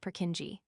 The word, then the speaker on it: Purkinje: cerebellum is known as a Purkinje, commonly pronounced Purkinje, cell.